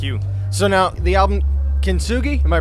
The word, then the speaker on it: Kintsugi: So now the album Kintsugi, am I pronouncing it right? Kintsugi, yep, you got it.